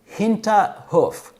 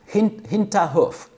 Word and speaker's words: Hinterhof: Now, please forgive me because I'm sure I'm gonna butcher the word, but it is something like Hinterhof. Hinterhof. I think it's pronounced somewhat like that, and it means backyard, or your back courtyard.